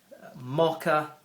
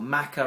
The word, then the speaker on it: Maca: like uh we've got the bee pollen there mocka or Maca actually is it should be pronounced which is an amazing root powder uh